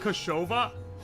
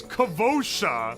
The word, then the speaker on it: Kavosha: Whoa, it's not Kashova? Sorry, it's Kavosha, and I always say it wrong.